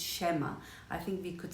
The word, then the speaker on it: schema: way, but I'll try to mention the right pronunciations. Schema is the first one I wanted to bring to your attention. It's schema.